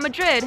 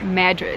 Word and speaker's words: Madrid: this town is called not madrid it's actually pronounced madrid this is a small